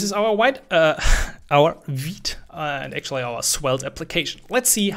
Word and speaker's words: Vite: this in the beginning it's called veed not vite it's french for quick thanks very much um